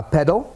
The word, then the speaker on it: padel: Spain in Argentina um Spanish is more like uh pedal you know not pronounced the way I do of course but